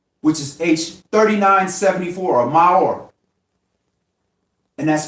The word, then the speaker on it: maor: The Hebrew word that for lights that was created in the firmament was maor, which is H3974, or maor. And that's spelled M-A-O-R.